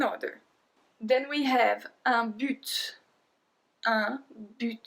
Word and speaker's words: but: Then we have un but. Un but. So it's not a but like in English, right?